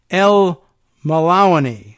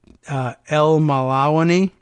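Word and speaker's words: Elmallawany: By Deanna K., this last name, okay, El Malawani. I'm guessing at that pronunciation, you can tell it's L-E-L hyphen M-A-L-L-A-W-A-N-Y. What do you make of that? El Malawani.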